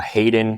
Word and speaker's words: Hayden: you go to uh Hayden which is ha y DN uh every time I pronounce that people drop off the H but yeah Hayden